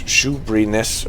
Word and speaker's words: Shoeburyness: So it's Shoebryness, or even only Shoebury without the ness.